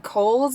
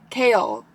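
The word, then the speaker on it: Chaol: but my mind has been blown because I have been saying Cole's name as Cole but the the narrator pronounces it as like Co-op no kale kale she says kale I did not expect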